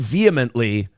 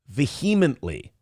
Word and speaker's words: vehemently: He pronounced the word vehemently. Vehematly.